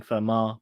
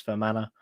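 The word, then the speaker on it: Fermanagh: correct on the pronunciation I kept saying Firma but it's for Mana um thank you John Shanahan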